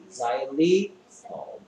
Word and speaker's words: Xylitol: X가 Z가 됩니다. Y는 I. 자일리톨.